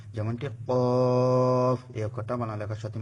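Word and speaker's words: ق: এতে করে আপনাদের অক্ষরগুলা বোঝা এবং উচ্চারণ করা সহজ হবে। আপনারা আমার সাথে সাথে বলুন। কাফ কাফ একটু ইয়ে করে বলতে হবে।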